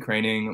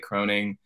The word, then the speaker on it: Kroening: my name is craning my last name is pronounced craning even though it looks like croning I I started out